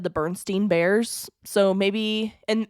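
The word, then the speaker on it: Berenstain: Bears so maybe and that's always how I've heard it said is The Bernstein Bears or like the barenstein Bears and so maybe that's why we're a little confused on it is because that's how it's said but this is basically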